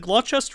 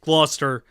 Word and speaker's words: Gloucester: Is it Glutchester or Gloucester? How do you say that? Gloucester.